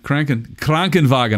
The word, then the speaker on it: Krankenwagen: Yeah, Krankenwagen. I even went and checked it out for the proper pronunciation.